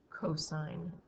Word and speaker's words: cos: Even though it looks like it's pronounced sin, cos, and tan, please say it like sine, cosine, and tangent.